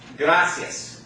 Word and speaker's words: gracias: the word gracias okay now the accents gonna fall on the second to last syllable because it ends in the nest okay but that second last syllable is not the I because the I and the egg go together to form of what thought okay and so the accents on the second last syllable the last syllable is the ia diphthong okay the second the